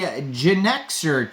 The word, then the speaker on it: Genixor: Today we're going over the Genixor token. Kind of is spelled out like Genixor, like you're a Gen Xer.